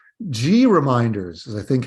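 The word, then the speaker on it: GReminders: or sorry that's the problem with some names G reminders is I think how they want this pronounced G yes G reminders g r e m i n d e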